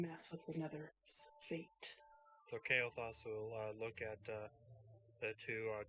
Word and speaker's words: Kailthas: By the way, Frank, it's pronounced Kailthas.